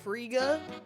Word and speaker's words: Frigga: funny to me because I like have to get deep in my throat to say her name. With the guh, like Frigga. It needs a lot of yuh.